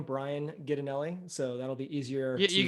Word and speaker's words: Ghidinelli: just my name Brian ganelli so that'll be easier you're gonna have to spell that for the people yeah g h d i n l l i it sounds like the chocolate guy but unfortunately I don't